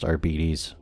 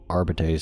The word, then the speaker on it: Arbites: can go with the adeptus arbes yes it's pronounced arbes arbites sounds cooler but whatever these guys are good